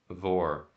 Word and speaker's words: vore: Vor. How do you spell it? VORE, like carnivore, like eating.